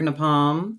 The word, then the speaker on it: Napalm: next caller is napalm uh like your knee and palm that's the pronunciation should have read that